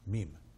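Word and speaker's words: ميم: In Arabic it's pronounced mim.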